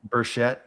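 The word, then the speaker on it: Burchett: Congressman Bruschett, how do you pronounce his surname? Buschett.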